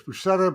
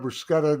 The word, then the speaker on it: bruschetta: bruschetta yeah bruschetta well take your choice bruscetta bruschetta there's two ways to pronounce it is there any